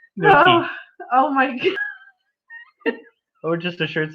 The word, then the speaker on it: gnocchi: It's not ganache, it's gnocchi.